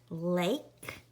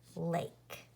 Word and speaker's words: lake: Like in the word lake. We have that silent E that is making that A say its name, lake.